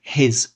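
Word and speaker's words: His: या इसको हम बोलते हैं bundle of हिज। एच आई जेड।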